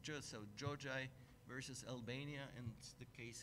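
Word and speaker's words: Xhoxhaj: That case is known under the name, you have it here, Giorgi, this XH is pronounced, so Giorgi versus Albania, and the case has been decided in May 2021.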